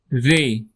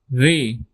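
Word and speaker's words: ر: Roll r if possible but if facing issue just let it simple for right now. Rey. Rey.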